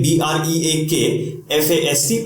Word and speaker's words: breakfast: So यहां पर the confusion happens when as per the spelling we say BREAKFAST. Pronunciation is breakfast. FAST, obviously हम बोलेंगे fast, but this is the problem. The pronunciation of this word is breakfast. थोड़ा speed में बोलना है, not breakfast, breakfast.